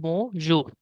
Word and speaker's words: bonjour: So the pronunciation will be like bonjour. Okay. Okay, the alphabet R in French is equivalent to the alphabet H in English while pronouncing.